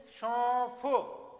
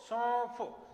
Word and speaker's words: सौंफ: तो देखो हम उच्चारण करके देखेंगे, सौंफ सौंफ, तो यहां पर ये चंद्र बिंदु की ध्वनि आ रही है क्योंकि उच्चारण नाक प्लस मुंह दोनों से हो रहा है।